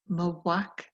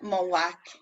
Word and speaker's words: mac: Well, you tell me, how do you say Mac then for my son? Mawak. That's it, Mawak.